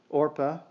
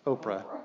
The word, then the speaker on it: Orpah: The diseased sons leave two Moabite widows, Orpah, people usually mispronounce that, Oprah, when they get to it.